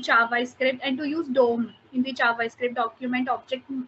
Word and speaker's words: DOM: script and to use dom in the javascript document object model that was a little bit challenging for me okay by the way it's pronounced as dom document object model okay awesome okay no